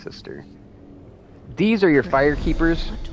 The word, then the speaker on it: Sester: You go to, it says Sester Janessa, but I'm pretty sure it's just pronounced sister.